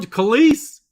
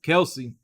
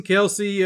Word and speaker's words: Kelce: is that on oh it's on Kalise Jason kise Jason Kelce am I'm saying kis I keep saying their name wrong oh he did Flinch